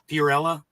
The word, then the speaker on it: Fiorella: Fiorella, is that right? That's correct. The pronunciation.